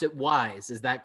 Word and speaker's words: Weis: think the more important thing so uh you pronounce it wise is that correct that's how yes because the